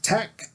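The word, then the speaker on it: Takt: This TACT, that's spelled T-A-K-T, this TACT time, you have to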